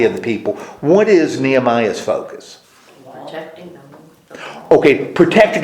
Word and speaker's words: Nehemiah: How do you pronounce his name? Nehemiah. Well, Nehemiah.